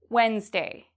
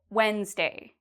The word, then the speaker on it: Wednesday: What about Wednesday? Wednesday. Am I pronouncing the D in this? Wednesday. No. I do not pronounce the D.